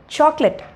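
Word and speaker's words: chocolate: ஸோ இது வந்து சாக்லேட். நிறைய பேர் வந்து சாக்லேட் இல்லைனா சாக்லேட் அப்படி இப்படின்னு தப்பு தப்பாக ப்ரொனவுன்ஸ் பண்ணிகிட்ருக்காங்க. ஸோ இது வந்து சாக்லெட்.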